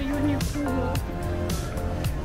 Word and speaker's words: Uniqlo: What is a Uniqlo? This is how Japanese say. What? Uniqlo. Q, they pronounce ku.